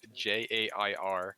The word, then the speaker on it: Jere: it's spelled Jere, and the pronunciation is Jair.